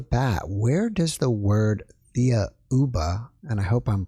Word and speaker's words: Thiaoouba: right off the bat where does the word thea ubba and i hope i'm pronouncing that correctly come from yes the word theoba is actually the name of the planet in